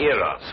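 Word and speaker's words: Eros: influence of cockney stagehands she added an h where there shouldn't have been one what then spell it as she spelled it but without the h e r o s precisely and here he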